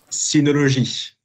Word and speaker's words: Synology: dit synologie. Comme ça, non synologie, synologie. Ok, très bien. Donc on prononce pas à l'anglaise, on prononce vraiment à la française et on ne met pas de D.